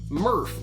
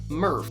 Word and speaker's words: Murph: introduces its first mascot murph which even though it's spelled differently i'm going to be pronouncing the same way i pronounce nerf nerf the leading foam